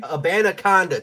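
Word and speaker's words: Abanikanda: Abanaconda, 20 touchdown guy.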